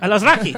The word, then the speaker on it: Alazraqui: And Carlos Alazraqui. All of these Latino. Alazraqui. Jorge, help me out. How do you say that? I have no idea. Alazraqui. I love Rocky.